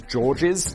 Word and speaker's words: Georges: Teresa is a hard to pronounce name anyway, and your surname is Georges, like George with an S on the end.